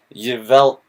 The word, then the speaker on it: Yveltal: I don't know how to pronounce that. It's Yveltal. Yveltal.